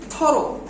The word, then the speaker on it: thorough: দেখো, pronounce hiccup, hiccup, thorough, it is thorough, পুঙ্খানু ভাবে, বুঝছো?